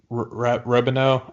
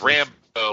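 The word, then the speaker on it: Rambeau: Her friend, Robino, I believe is her name. I can't pronounce it. Captain Marvel. It's Rambo, like First Blood.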